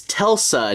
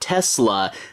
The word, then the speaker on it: Telsa: of a joke here where it's Tulsa not Tesla but every now and then people mispronounce it and sometimes she corrects them uh but they're